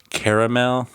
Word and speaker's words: caramel: regional debate Across America the Western half of the country pronounces this word with two syllables completely ignoring the second a meanwhile Southerners East Coasters embraced the second vout and spread this candy out to three sybl is it pronounced caramel